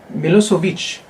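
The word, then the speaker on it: Milošević: Names, for example, like Milosevic, we always keep the sound in its original language.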